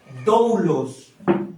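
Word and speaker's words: δοῦλος: Ahí dice, "Y nosotros como siervos, como esa palabra siervo, en el griego original se pronuncia así, oiga, doulos."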